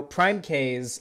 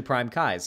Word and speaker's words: PrimeCayes: than what dylan does it's it's kai's like eyeballs oh it's it's actually prime kai's okay all right um well